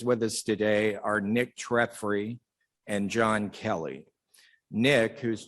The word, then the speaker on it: Treffry: My name's Nick Treffry.